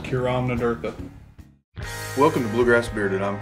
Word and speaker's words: Cúram Nádúrtha: I think it's actually pronounced Cúram Nádúrtha. Cúram Nádúrtha. No. Cúram Nádúrtha. My Kentucky accent can't do that. Cúram Nádúrtha. You have to roll your R's. I can't roll my R's.